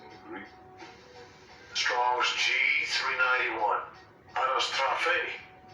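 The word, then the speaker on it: anastrophē: So when you click on this word, let's get the pronunciation in the Greek. Strong's G391. Anastrophe. Anastrophe.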